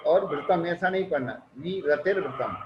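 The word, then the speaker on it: विरतिर्व्रतम्: तो सातवें अध्याय की प्रथम सूत्र में बात कही, हिंसान्तस्य ब्रह्म परिक्रीभ्यो विरतिर्व्रतम। उच्चारण पर गौर कीजिए, विरतिर्व्रतम नहीं पढ़ना है, विरतिर्व्रतम पढ़ना है। यदि विरतिर्व्रतम पढ़ोगे तो दोनों राह ह्रस्व हो जाएंगे।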